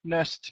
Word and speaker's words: nursed: My wife nursed me back to health. Just remember with the pronunciation, when a word ends with S and we add ED, the ED equals a T sound.